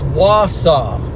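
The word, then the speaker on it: Wausau: Okay, someone's telling me how it's Mason's reacts telling me how to pronounce it's Wasaw, guys.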